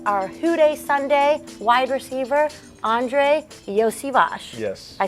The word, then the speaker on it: Andrei Iosivas: Yeah, it's Andrei Iosivas. Iosivas. So, some people know me as Yoshi, but the SH part comes at the end of my name, actually.